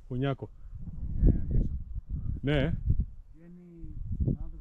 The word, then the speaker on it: Κονιακός: χωματόδρομο που γράφει προς Κόνιακο. Κονιάκο. Ναι. Βγαίνει πάνω από Κονιακό. Κονιακός είναι τελικά, Κονιακό. Πού τονίζεται. Πού τονίζεται αυτή. Κονιακός είναι. Ναι.